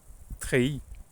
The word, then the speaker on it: treillis: I pronounce it like treillis without the yard, so it kind of rhymes with pays, a country.